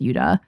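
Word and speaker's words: ユダ: Is it Judah or Uda? In Japanese it's pronounced Uda.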